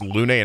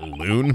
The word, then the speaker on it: Lunay: mr lunay i think his name is pronounced lunay not loon but i don't know